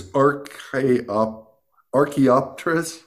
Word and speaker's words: Archaeopteris: I read about that the tree, and I'll butcher the name, but it's Archaeopteris or something like that.